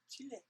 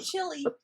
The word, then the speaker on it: Chile: he's from Chile actually Chile yeah yeah I have to say it correctly yeah not Chile Chile yeah from and um